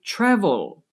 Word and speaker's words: travel: Which syllable is stressed when I say travel? Travel. Yes, the first syllable is stressed, the TRA. Travel. The last syllable with L at the end is not stressed.